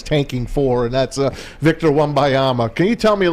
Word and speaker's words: Wembanyama: No, you're close, but Wembanyama. Wembanyama.